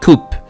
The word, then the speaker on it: coup: Uh it I I let me spell it. C O U P. Okay. Coupe. Uh it means strike. So we say coup deta.